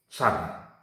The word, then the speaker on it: sun: San ya, memang tulisannya kalau dalam bahasa Inggris sun, bacanya san, itu matahari.